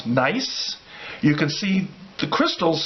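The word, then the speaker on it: gneiss: rock that we call nice it's actually spelled GN e is s but pronounced nice it's a German word okay alright so here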